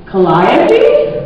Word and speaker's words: Calliope: Calliope? Yeah. That's how you pronounce it.